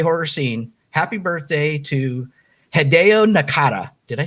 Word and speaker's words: Hideo Nakata: in the j horror scene happy birthday to hideo nakata did i say it right i think so yeah hideo nakata so i don't know exactly how old he